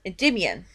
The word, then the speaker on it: Endymion: And of course, she ended up falling in love with the Earth's Prince, Endymion, or Demion. Yep. Depends on which pronunciation that you want to go with.